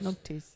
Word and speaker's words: noughties: Spelled with the N-O-G, N-O-U-G-H-T-I-E-S. Naughties. Not when I was naughty, because that's never stopped.